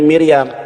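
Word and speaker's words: מִרְיָם: ini memulai Miriam ya Miram ya memnya ada Hirik restnya ada Sefa yut-nya ada Khamad memofit dibacanya Miriyam Miriyam siapa?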